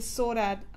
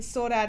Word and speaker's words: Saudade: That colourful hat that I did, I'm not sure if you guys saw it, the Saudade, and that's probably not how you say it, the Saudade hat, S-A-U-D-A-D-E, that I did in the sort of the greeny colours.